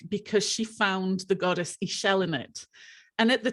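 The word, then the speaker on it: Ixchel: Because if you don't know the goddess Ishel, it's a Mexican goddess. It's spelt the same way, except it's got the X in it. And obviously the X isn't pronounced. So it's Ishel.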